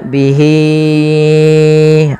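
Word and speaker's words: بِهِۦ: Maka di sini h-nya wajib kita panjangkan sepanjang empat harakat. Maka bihi baru dilafalkan a.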